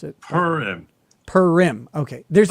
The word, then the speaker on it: Purim: Purim. Okay. There's like a town. Like a cat purring? Yes. And then im. So there's a town nearby called Purim. Yeah. Like it's right here.